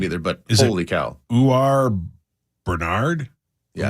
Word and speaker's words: Uar: I just don't know how to say his first Uar. How do you spell it? UAR. UAR. UAR. Yeah. Uar. You are a Bernard.